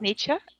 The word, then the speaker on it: Nietzsche: Do you Yeah, pronounce Nietzsche?